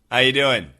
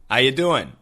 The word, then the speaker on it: how you doing: the pronunciation today so the first word how just sounds like ha R is completely gone u sounds like y